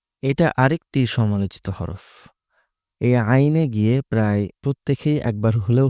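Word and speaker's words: عين: স্বাভাবিকভাবে উচ্চারণ করতে হবে। আইন তিন আলিফ পরিমাণ টান। এটা আরেকটি সমালোচিত হরফ। এই আইনে গিয়ে প্রায় প্রত্যেকেই একবার হলেও হোচট খায়।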